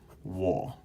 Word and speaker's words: 我: seven all right and the way you pronounce this one is wool okay and remember that